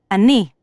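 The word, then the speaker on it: אני: interesting very this is how you say I Ani let's see if you can say I Annie remember this say nice to meet you let's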